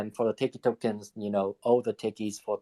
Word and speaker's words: Teiki: Hey, so I got a question for, I don't know how to pronounce it. I'm just going to say Teiki. Teiki.